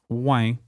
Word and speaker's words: ouais: This word is not unique to Quebec, but you'll likely hear it pronounced with a bit more of a nasal tone. For example, ouais, pas de problème.